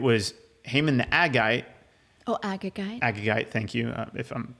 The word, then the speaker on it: Agagite: Oh, Agagite. Agagite, thank you. If I'm pronouncing that wrong, thank you.